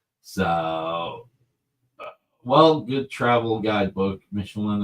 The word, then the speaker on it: Michelin: Michelin apparently rhymes with pickle my knee.